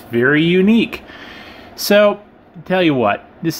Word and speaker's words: Yuneec: we got we have something that's unique yes that's how you say it I guess unique I just thought it was Yannick or something like that but I